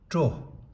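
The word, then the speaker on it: སྲོ: And in spoken we say tro.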